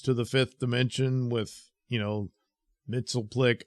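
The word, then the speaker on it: Mxyzptlk: And the immediate things, oh, is this a reference to the fifth dimension with, Mitzelplick? I know it's Mixes-Piddleck, but geez, I hate that pronunciation.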